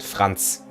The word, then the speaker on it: Franz: It's Franz. Well, in German you would pronounce it Franz.